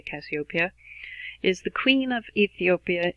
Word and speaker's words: Cassiopeia: I've heard lots of different pronunciations. I usually say Cassiopeia.